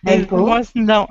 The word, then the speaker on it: maple: Maple leaf. Maple. Maple leaf. Not map, but May. Maple. Maple. Maple leaves.